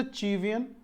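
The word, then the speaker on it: Cevian: So this C is pronounced as चा, CH, right. So this is अ चीवियन, इज a line segment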